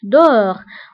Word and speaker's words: dehors: donc داخل dedans خارج dehors وانتبهوا ايضا بالنسبه ل dedans و dehors كنكتبوهم باس اخر الكلمه ولكنها لا تنطق dedans dehors داخل خارج